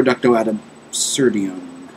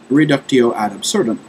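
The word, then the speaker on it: reductio ad absurdum: might be used for reducto adab serum uh sorry mispronunciation there reducto ad absurdum either way uh yeah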